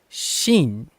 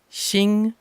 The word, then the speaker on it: Shin: So when I listen to the Japanese dub, it's Shin. Shin is the name of the character, not Shing and it's not Shin.